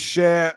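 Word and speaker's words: Schär: way it is Fabian share not sha Fabian share the singer because I was watching them uh I think it was on social media there some the Premier League put something out how to pronounce people's names which was very handy for me um and uh Fabian Sher came on and said Fabian share so there you go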